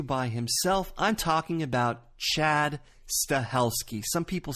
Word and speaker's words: Chad Stahelski: Wick chapter two by himself I'm talking about Chad stahelski some people say Chad steli Chad stalsky it's Chad stahelski so you're going to be hearing that name